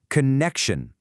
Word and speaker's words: connection: It's got 3 syllables. The first one's kind of soft, ka. Then you put the stress on the middle one, connect, and it finishes with shun. So you put it all together, connection, connection.